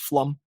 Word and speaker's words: Pflum: by Mary flum pflum I believe that's pronounced flum anyway it had still